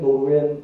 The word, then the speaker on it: Nord: 9세기 이후 지금의 스웨덴, 노르웨이, 덴마크 이쪽을 북쪽을 불어로 보죠. 불어나 라틴어 계통으로 노르를 NORD라고 하죠. 우리는 영어로 노르스라고 그러죠. 노르스가 북쪽이죠. 그죠? 노르, NORD D 이런 건 발음을 안 하거든요.